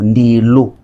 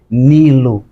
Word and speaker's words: Ndilo: limite, em que Congo, Ndilo. E eles não, como têm dificuldade de pronunciar os sons nasais, eles falaram que é Nilo, mas não é, aquele rio não se chamava de Nilo, é Ndilo, como rio Sião, que eles